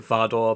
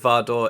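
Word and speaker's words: Vardø: how you say it I think this little over the slash through it is kind of an or sound but Swedish and Norwegian people can correct me please anyway I'm gonna pronounce it vardor because I think that right The Witches of vardor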